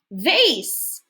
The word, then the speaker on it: vase: Vase. Good. A vase is what you put flowers in and water. Remember, silent E doesn't make a sound. It tells A to say its name.